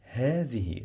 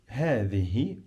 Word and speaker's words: هذه: هذه. Let's write هذه. He. And then I have the. I pronounce this th like the th in the word the.